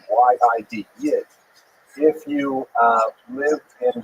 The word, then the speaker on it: Yid: Yid means Jew, so that's a Lithuanian pronunciation. Y-I-D, Yid.